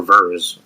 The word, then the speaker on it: Vers: Why don't you just call her Vers? Vers kind of sounds like it's spelled with two E's or EA.